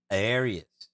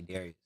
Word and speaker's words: Darius: Maybe it's how I talk, but I don't pronounce the D. It's always some weird name that don't sound with a D when I say Darius.